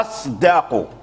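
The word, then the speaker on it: أصدق: لابد ان تراعي الدال فتقول ما تقولش الصداق ط اصد لا اصدق اصد ق اصدق لابد من ترقيق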